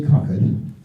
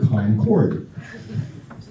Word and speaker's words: Concord: I say Concord. They say, huh? And I say, oh, I'm sorry, you people pronounce it Concord.